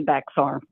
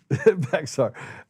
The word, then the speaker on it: Bexar: It would be Bexar. Beexar. I made that mistake several times. They said Bear County. And I was like, "Bear? Bear? I'm not in Bear. I'm in Beexar County." They're like, "No, you're in Bear County."